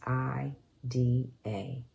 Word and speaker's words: Ida: It's I-D-A. It's pronounced Ida.